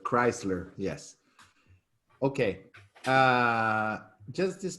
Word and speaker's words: Chrysler: and the chrysler building okay wisely crisis now it's perfect chrysler yes okay uh just